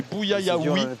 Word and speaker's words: Bouyayaoui: que l'on a d'ailleurs C'est pour ça, il faut pas appelé marronner, des Bouyaoui toute la partie, mais on a oublié une syllabe, Eh oui. Guillaume. C'est Bouyayaoui. Ah, Bouyayaoui.